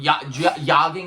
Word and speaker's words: yogging: Yogging, I believe it's pronounced with the silent J.